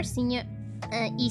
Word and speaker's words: y: But when you are using it on its own, it's E.